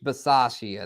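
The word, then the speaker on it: Bisaccia: uh what say Rich Versace I Versace Rich veras I don't know how to say it but he was their special teams coach the dude Rich from the Raiders the special teams coach and uh bace Rich Basia there it is my bad y'all Rich Basia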